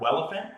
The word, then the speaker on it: Welephant: Check out Welephant, that's spelled like elephant with a W, on GitHub.